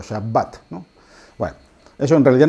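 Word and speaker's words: שבת: de la a y este puntito que hay dentro de la B indica que la letra b se tiene que pronunciar doble no es shabat ni shabat sino shabat no bueno eso en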